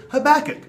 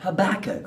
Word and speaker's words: Habakkuk: Okay, this will remind us of our next prophet, Habakkuk. Habakkuk, whose name rhymes with cook. Cook, Habakkuk.